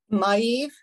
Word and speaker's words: Maeve: Maeve.